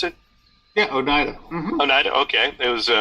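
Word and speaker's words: Oneida: Onida New York is that the how you pronounce it yeah Onida Onida okay it was called Orion and and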